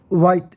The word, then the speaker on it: white: It is a white, WHITE, white। यह हा की साउंड बिल्कुल कम, white, ये ऑलमोस्ट साइलेंट, white hen।